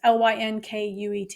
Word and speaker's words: Lynkuet: Yeah, here's my issue with this is I don't know how to pronounce these things, but it's spelled elinzanetant, marketed as I would say Linquet, but who knows? It's Lynkuet.